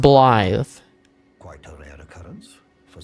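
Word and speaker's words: Blaidd: It's pronounced Bllythe.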